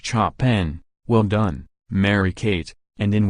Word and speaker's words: Chopin: Amanda decides to forego the Chopin, pronounced Chopin, well done, Mary-Kate, and in what can only